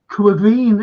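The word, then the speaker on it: Caoimhín: Look, Quivine, is that how you pronounce his name?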